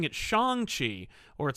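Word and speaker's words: Shang-Chi: the actor who's playing him yeah says it's shang chi okay just like uh when they made the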